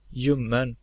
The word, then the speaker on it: ljummen: And lastly, we have the silent L. Ljus, ljud, ljuv, ljummen.